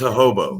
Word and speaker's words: jojoba: Jojoba oil. Yeah, hobo. Or maybe it's JOJOBA. She's just like, no, it's hobo. I say next time. Ho. But yeah, it's pronounced hobo.